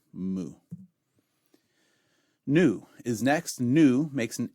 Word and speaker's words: mu: mu mu is next makes an M sound as in moon mathematicians and others will say mu and that's fine but it's not how we pronounce it in the guild for academic biblical and Theological Studies but again it's coin a so if you want to say me you that's fine go for it makes an M sound